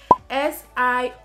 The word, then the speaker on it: Siobhan: The second one, S-I-O-B-H-A-N. Pronounce it, I'm giving you 2 seconds. Good. Now the pronunciation is Siobhan.